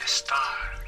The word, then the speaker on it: estar: The verb to be in Spanish is Estar. estar. We have and star. Estar.